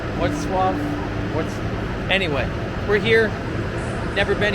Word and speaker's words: Wrocław: I want to call it Wroclaw, but I know that's not how it's pronounced, so hopefully I was closer. Wrocław?